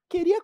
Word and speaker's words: queria: a gente faz né Queria quanto Olha só esse queria tem um somzão de k normal queria o u não é pronunciado agora no quanto no